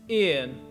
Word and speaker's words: yên: It's pronounced yên. Remember that the letter Y is strictly a vowel in Vietnamese.